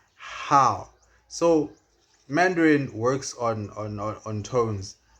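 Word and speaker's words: 好: And then how has a falling rising tone, which is how.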